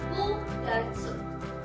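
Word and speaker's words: 九月: Untuk bulan 9, angka 9 untuk bulan bukan Q tapi U. Jadi bukan KYUU tapi hanya ditulis Kugatsu.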